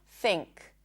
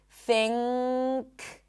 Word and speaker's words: think: When there is an N sound and a K sound right after. For example, think, think. You wouldn't think about it, but the N that you're pronouncing is actually an NG sound. Think. It's not think, think, but think.